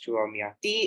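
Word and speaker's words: Chua Mia Tee: Born in China, Chua Miati, pronounced as Chua Miati, is widely acknowledged as one of the greatest living artists today of which country?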